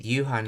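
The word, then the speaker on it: 夕飯: そろそろ He said Yuhan, not you Gohan. Yeah, you Gohan would be the full way of saying it, but you could, I guess you could shorten it. You Gohan. Yeah, it would be written like this, you Gohan. But he just takes the go off, which is just an honorific anyway, so Yuhan.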